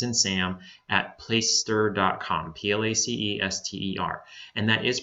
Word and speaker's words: Placester: in Paul SS and Sam at plaister comm PL AC es te R and that is pronounced place ster not place tester in that plat caster not place setter its place ster don't know where that name